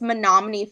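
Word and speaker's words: Menomonee: Actually, I don't know if you know where this is at, but it's Monomin Falls. It's spelled like me no money.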